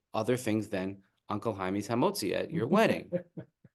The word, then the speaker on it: hamotzi: things than Uncle Jaime's hamotzi at your wedding. Right? And they don't say it correctly. The hamozi.